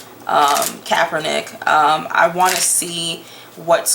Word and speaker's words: Kaepernick: So why don't we look first into the actual court case that Colin Kaepernick is, I always say everybody's name wrong. Kaepernick.